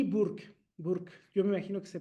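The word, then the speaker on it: Burke: Burk, yo me imagino que se pronuncia así, Edmund Burk.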